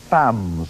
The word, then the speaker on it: femmes: Famous femmes. It says femmes here, but you know it's pronounced femme.